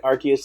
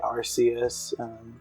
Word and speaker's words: Arceus: a lot here okay because i feel like arceus is like the most infamous one um because everybody wants to say arceus but i mean the pokemon company has